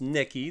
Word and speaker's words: Necchi: You are looking at the incredible, the amazing once upon a time state-of-the-art tech sewing machine from the Neki company pronounced Neki.